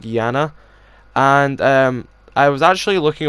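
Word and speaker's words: Iana: i a na but it's still pronounced like Janna and I was actually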